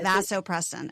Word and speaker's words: vasopressin: sounds like a release that vasopressin am I pronouncing it correctly vasopress yeah vasopressin okay yeah yes it just a drop in